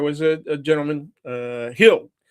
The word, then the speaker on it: Gil: And and uh uh there was a a gentleman uh Hill, the correct pronunciation in Spanish is Gil, but but everybody says Gil, of course.